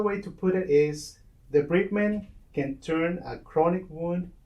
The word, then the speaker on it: debridement: said the right way, debridement, because one day somebody said debridement, but debridement is to remove a bride from a man. So that's not the right way to say it. It's debridement.